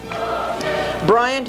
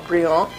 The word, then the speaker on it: Bryant: Bryant is not pronounced French style, Briand, although it should be. It rhymes with defiant and giant, a defiant and giant lawbreaker.